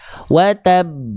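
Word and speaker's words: وتب: Yada Abi lahabiab kalau qqala Akbar dia ditahan ditekan dulu baru lempar watab karena ada tasdidnya nah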